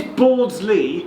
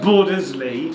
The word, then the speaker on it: Bordesley: It is Bordsley, Bordsley. and not Bordersley.